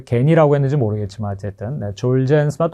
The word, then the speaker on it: 졸겐스마: 이거 어, 원래 발음은 졸젠스마입니다. 왜 겐이라고 했는지 모르겠지만 어쨌든네 졸젠스마 또 졸겐스마인데요.이 이 졸겐스마는 어 척수성 근축증 스파이널 musc atropy라고 하는 아 사실 치명적인 질환인데요.